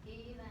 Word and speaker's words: even: Even.